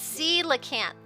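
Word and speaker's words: coelacanth: Pronounced sea lacant.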